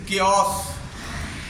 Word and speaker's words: chaos: तो एओ का उच्चारण, एओ, ए और ओ का उच्चारण एओ की ध्वनि में, तो एओ का उच्चारण एओ आओ की ध्वनि में, जैसे क्यास, अव्यवस्था, क्यास, CHAOS, क्यास।